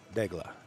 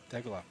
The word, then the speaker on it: Daigle: It's not Daigle. It's actually Daigle. Daigle. He says don't put too much emphasis on the la, Daigle.